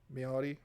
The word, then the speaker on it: Maori: Maori is actually how it's pronounced.